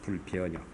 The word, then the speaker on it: 불변역: 불변역. 변역이라고 발음을 역으로 합니다.